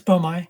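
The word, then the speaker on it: boehmei: what that official is i've heard uh beaumai it's a beaumai yes bomai okay because i i and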